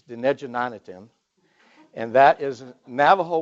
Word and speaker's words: Dinéjí Na'nitin: The second book, everyone is afraid to try to pronounce it, but it's really easy. It's Dinejanatim.